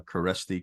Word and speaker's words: Kereszti: sister my couple of my daughters right uh caresti k-e-r-e-s-z-t-i is a very unique last name yes